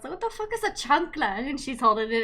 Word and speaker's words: chancla: The chala, the slipper. Chancla. Chuck. It's called a chancla. I know I keep pronouncing it wrong.